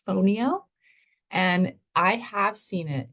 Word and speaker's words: fonio: so this is phono it's spelled f n IO fonio and I have seen